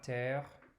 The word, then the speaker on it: terre: We already know la terre, it rhymes with père, okay?